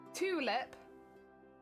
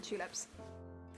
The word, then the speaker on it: tulip: while since i've seen tulips what do you mean tea and tulip can be pronounced absolutely terrible that's not that's not how you pronounce tulip you definitely don't pronounce the t absolutely not listen we